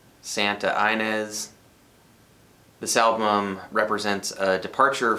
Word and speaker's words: Santa Ynez: And this particular album was recorded in Santa Ynez. And knowing Californians like that, city could be pronounced Santa Inez.